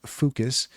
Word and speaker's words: Fooocus: How you pronounce Fooocus is up to you. I'm going to pronounce it Fooocus. It's focus, but with three O's. So Fooocus.